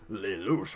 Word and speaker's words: Lelouch: Apparently it's Lelouch. Ho ho. I like it. I actually like his name pronounced that way because it sounds like French and I like it.